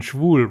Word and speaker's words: schwul: But cool rhymes with schwül, right? Yeah. So if I thought it was cool, but then schwul rhymes with cool.